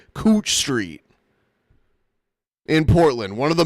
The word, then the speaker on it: Couch Street: a street that's spelled C O U C H Street. And when I first saw it, I was like, "Oh, it's Couch Street." No, it's pronounced Cooch. Cooch Street in Portland.